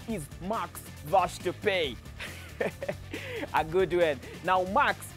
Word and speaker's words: Max Verstappen: marks washed the pay i was told the pronunciation of this name is max wash to pay a good win now max was up winning